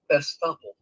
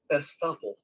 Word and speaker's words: estoppel: Estoppel. Did you hear that? I heard it, but I didn't discern it. Here we go. Estoppel. Estoppel.